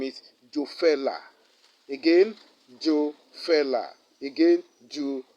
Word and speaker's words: Jofelah: was that holy name the only name is jofella again joe fella again jew fella jo fella let me spell it for you j o l sorry let